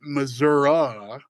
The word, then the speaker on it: Missouri: Um I have some extended family who they would pronounce it Missourah while most of the world pronounces it Missouri.